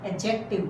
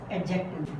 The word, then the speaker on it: adjective: As I told you, in British and American English, it is pronounced adjective. D is silent in both languages, in British and American. But in Indian, D is not silent. We pronounce adjective.